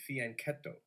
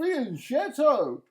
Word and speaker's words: fianchetto: The computer always says fianchetto. What do you say, Teddy? I'm old school, Johnny. I call it a fianchetto. A fianchetto, as opposed to a fianchetto. I can understand the H is silent, right?